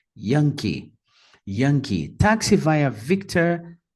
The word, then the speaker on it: Victor: representada pelo código Victor notem que a primeira sílaba é a mais forte Victor Victor em seguida o w representado